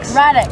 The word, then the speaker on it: Radix: So how do you pronounce Radix? Radix? Yeah. Radix.